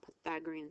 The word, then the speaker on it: Pythagorean: squared equals C squared because we're using the Pythagorean theorem that's the way that you pronounce it Pythagorean theorem 81 plus 81 equals C squared when